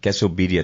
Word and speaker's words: Quesobirria: So, it's going to be pronounced quesobedia tacos.